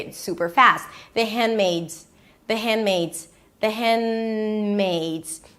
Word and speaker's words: Handmaid's: The handmaids. The handmmaids. The handmmaids. Right. And if you want to pronounce it properly, the hand. The D is a held D. You don't release it.